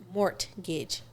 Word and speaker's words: mortgage: The T is not mortgage.